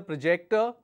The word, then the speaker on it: project: second one is Project when your stress is on the second syllable it is a verb when the stress is on the first syllable it's a noun for example The discus